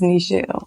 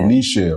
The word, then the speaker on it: Nishelle: My middle name is Nishelle. Like Michelle but with the N. Yeah. Nishelle. Nishelle.